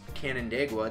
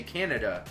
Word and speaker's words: Canandaigua: address or something and they can't pronounce Canandaigua they say Canada it's like no it's not Canada we're about two and